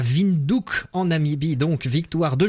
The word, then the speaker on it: Windhoek: Non, Windhoek, c'est comme ça que ça se prononce.